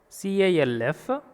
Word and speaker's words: calf: And in the, see this word, CALF, calf. L becomes silent. L is silent here. Calf. Calf, not calf. We want to pronounce L in this word.